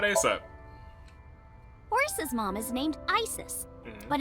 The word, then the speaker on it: Isis: Horus's mom is named Isis, but in ancient Egyptian, it's pronounced closer to Ise or Aset.